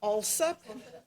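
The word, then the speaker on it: Alsup: also My name is Alup. My name is Alup. That is spelled A L S U P.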